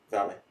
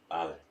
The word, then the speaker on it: vale: Vale. Vale. Vale. Vale. Vale. It's a V. It's a V. It's but a V. you pronounce it as a V. Well, I say vale. That's wrong. It's vale.